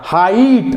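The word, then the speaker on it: height: प्रत्येक त्या आय नंतर जर GH असेल, बघा GH, GH, GH असेल तर त्याचा उच्चार आई असा करायचा. हाईट, हाईट आपण हिग्ड म्हणतो का, हिग्ड, हिग्ड, हिग्ड नाही, आपण त्याला म्हणतो हाईट, साईट, राईट, लाईट.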